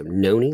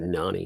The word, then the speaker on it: Nani: Noni? Yes, I have knees. Okay, so it's Noni. Okay, so I would have said Nani, Noni.